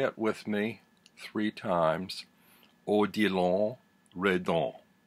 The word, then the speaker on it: Odilon Redon: With Me Three Times, Odilon Redon. Odilon Redon. Odilon Redon. That's how you pronounce it. It's French.